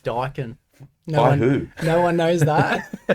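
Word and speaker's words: Daikin: It's actually pronounced Dakin.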